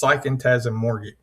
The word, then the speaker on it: Psychantasmorgic: Well, the book is called, and everybody's asked me how to say it, but it's Psychantasmorgic. Right, and it's play on the words of psychology and Phantasmorgic, which Phantasmorgic is the